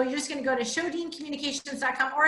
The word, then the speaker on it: Sjodin: Alabama right so my show Dean it's spelled SJ OD IM swedish so the J is like H show Dean so you'll just go